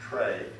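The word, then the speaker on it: trie: If we build a geohash tray, and I know it's pronounced tree, but I'm going to say tray just to distinguish between a normal tree relationship, so I will fall to that side of the technology terminology.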